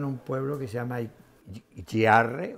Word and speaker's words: Giarre: Mi abuelo nació en un pueblo que se llama Giarre o Giarre, ¿no? Se escribe Giarre.